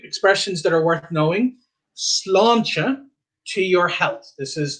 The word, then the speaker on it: sláinte: And of course, now you know why we have the A with the accent, so that gives it the aw sound. And then a T before an E is a slender T, so that's why it's the ch sound. So sláinte, all right?